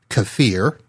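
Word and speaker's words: kefir: boosting Shake is two cups of plain lowfat cafir and yes I did say that right because I looked it up it is spelled k f i uh cafir is what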